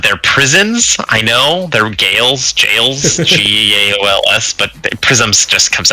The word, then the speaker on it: gaol: I went to Ireland and was schooled in it being called jail and not a gaol. I'm sorry, Gowl. Yeah, that's how it's spelled.